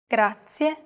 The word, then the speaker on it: grazie: your turn once more do you remember the trilled r we talked about it in lesson two even though it looks like the english r the pronunciation is very different listen to how marika is pronouncing this sound altogether it's grazia one last time the